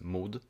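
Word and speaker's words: mod: similar in swedish actually it's spelt m-o-d and it's pronounced mood so it's similar to the german but yeah it means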